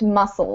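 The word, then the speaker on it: mussel: so this would be that would be pronounced muscle Muses muscles uh lobster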